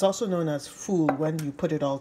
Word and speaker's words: foul: it's also known as fool when you put it all together f o u l but it's not pronounced foul it's called f in